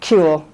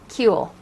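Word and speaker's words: Kuehl: Am I pronouncing her name correctly? Kuhl. Kuhl.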